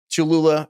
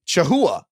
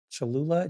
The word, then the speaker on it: Cholula: Tanner says, "My entire immediate family cannot pronounce Cholula. We have Cholula in our fridge all the time, no matter what. But my mom, my dad, and my brother all say Chaha."